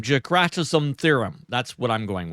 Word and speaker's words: Dijkstra: Every router builds a full map of the network, and this runs on, I'm going to murder this name, Jakratism theorem.